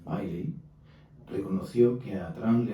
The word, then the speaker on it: Milley: A Trump, y lo ha llegado a reconocer el general Milley, no recuerdo cómo se pronuncia bien, como al inglés, Miley, reconoció que a Trump